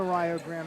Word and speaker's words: Rio Grande: every broadcaster that we end up playing the rayo grand red storm that it's spelled rio grande but it's pronounced rio grande